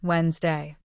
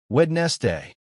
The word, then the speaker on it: Wednesday: Emma, another mistake I've noticed is that learners try to pronounce every single letter. Yes, and English doesn't work that way. For example, the word Wednesday. Many learners say Wed-nes-day.